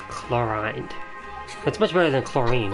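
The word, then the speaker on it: Clorinde: So her name's pronounced Chlorine.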